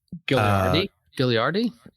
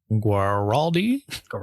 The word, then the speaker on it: Guaraldi: Vince, Vince Gilliardi. Guaraldi. Yeah, I always mispronounce.